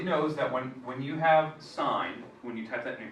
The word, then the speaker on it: sin: So to do that, you have a little SIN button, sin or sine, that's pronounced sine.